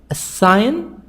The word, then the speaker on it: assignment: Assignment. Computer. So here the stress is in the middle.